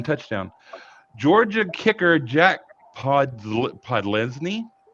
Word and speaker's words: Podlesny: Georgia kicker Jack Podlesny was, I think that's how you pronounce it. I don't know. That's correct.